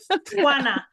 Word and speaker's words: Juana: Hana, it's like you have something in your throat.